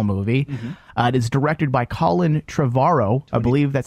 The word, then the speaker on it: Colin Trevorrow: after the original movie it is directed by Colin tavaro I believe that's how you say his name